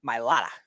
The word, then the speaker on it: Mailata: Left tackle Jordan, how do you pronounce this, Speedy? Mailata.